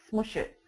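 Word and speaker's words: Smush.it: smoosh it it's a wordpress plugin um and it's spelled m-s-m-u-s-h-dot i-t smush it what smoosh it will do is when you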